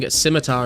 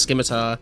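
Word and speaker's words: scimitar: ridiculous that word it's aluminium how about saying simitar instead of skar yeah I mean everyone just said skar back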